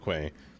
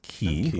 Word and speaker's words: quay: three quay or port quay container or container crane or I just call it a gantry to be honest.